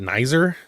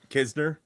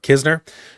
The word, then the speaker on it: Kisner: Is it Nizer? How do you say it again? Nizer? Kisner. Yeah. Kisner. Yeah.